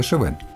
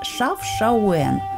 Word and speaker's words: Chefchaouen: По-арабски читается «Шефшауэн». Эта же версия используется во французских и английских источниках. До прихода арабов на территории Марокко жили берберы. Они называют город «Ашавен». Следом за ними «Шавен» говорят испанцы.